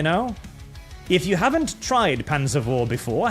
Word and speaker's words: Panzer IV: The Germans don't pronounce the V. They say the V is an F for reasons unbeknownst to all civilized humans. So it's Panzer IV.